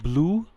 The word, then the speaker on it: Bloo: ado this tool is called blue right it's spelled b-l-o-o and i would love